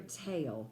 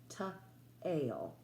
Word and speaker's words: tale: Our E is silent, which makes this A say its name, ta-ale. Tail.